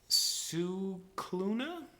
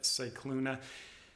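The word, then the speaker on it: Scicluna: things where there's no Emojis all right Elizabeth suuna uh Elizabeth sauna uh apparently I read at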